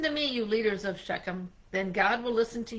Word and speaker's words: Shechem: The people of Beckham, how do you pronounce that? Shechem. Shechem made Abimelech their king, and they did it by the culty pillar in Shechem.